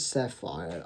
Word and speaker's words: Sephir: Also, in terms of his name, I personally {quote} {unquote} Um his name, I think it is Sefari. I've been It seems that's how it's pronounced.